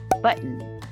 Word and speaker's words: button: for example when pronouncing button drop the t as in but and then add n without releasing the tongue from the gum ridge so the final n